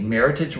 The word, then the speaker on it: meritage: So think meritage rhymes with hemorrhage. Oh my God, matches with heritage.